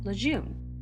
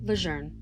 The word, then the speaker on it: Lejeune: away in 1942, and over time, people started pronouncing it Camp Lejeune because they couldn't find the R. But it's not a randomly named Marine base. It's someone's name, and his name was pronounced Lejeune.